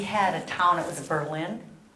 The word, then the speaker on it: Berlin: I live in Wisconsin, and we had a town, it was Berlin, they changed their name to Berlin. You just put the emphasis on a different syllable.